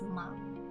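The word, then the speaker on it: 間: The first kanji is pronounced ma.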